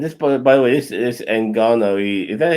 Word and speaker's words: Ngannou: And this, by the way, this Ngannou. Is that how you say his name? Yes. Ngannou.